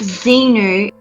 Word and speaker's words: Xenu: seven space okay Cowboy Bebop ripoff okay it's pronounced Xenu xemnu and it was according to the Scientology